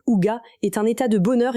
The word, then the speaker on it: hygge: Le hygge, prononcé Uga, est un état de